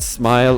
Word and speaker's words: SMLE: The artist's name is spelled SMLE, so there's no I. But I've heard like Bowtied Media pronounce it as Smile, so I'm just going to keep things simple and say that there was no vowel, just as a stylistic choice, and you don't actually pronounce it smell or anything like that, because otherwise things